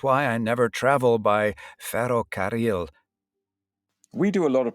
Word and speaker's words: ferrocarril: I have to make a huge effort to say the word ferrocarril. Okay, so this word actually has two double R combinations, and it means railway.